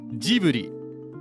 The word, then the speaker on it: Ghibli: Also pronounced Ghibli with the J sound. That's because in Japanese, this is a Japanese company, a Japanese film production group. It's pronounced Ghibli. Ghibli is how they pronounce it.